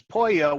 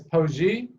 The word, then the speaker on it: Poje: correct that is correct I am told that the original pronunciation is poyo which means song but I'm not a crow by nature I'm an American so really can't prove that so you actually pronounce it as poachy correct that is the pronunciation okay I can't like